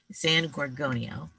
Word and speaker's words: San Gorgonio: San Gorgonio.